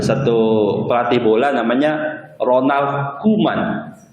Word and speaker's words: Koeman: Dulu bahasa Belanda itu sampai hari ini, dulu kita pakai ejaan gaya Belanda. Belanda sampai hari ini itu masih menggunakan konsep bahwa OE itu dibaca U. Ada satu pelatih bola namanya Ronald Koeman.